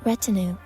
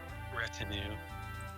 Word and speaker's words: retinue: Retinue. Retinue is how you say it. Retinue.